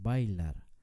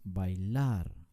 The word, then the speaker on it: bailar: ejemplo la palabra bailar nunca decimos bailar pronunciamos bailar con mucho énfasis en la última sílaba así que nosotros decimos